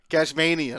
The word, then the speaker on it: Cashmanian: I think it's Cashmanian. Cashmanian. Oh. Yeah. Honestly, I just say Tasmanian with cash.